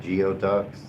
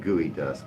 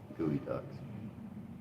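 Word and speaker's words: geoduck: Oh, you ever had geod ducks? They eat those in in Olympia, Washington. Ever had that? Seen that? They're not good. We pronounce it gooey dust. It's a giant mollus. Gooey ducks.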